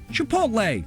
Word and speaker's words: chipotle: those live laugh love signs are choogy next chipotle the korean pronunciation in spanish is chipotle which is already a difficult word to pronounce it comes from the nawato a language in mexico american pronunciation would be chipotle but many people prove they could manage either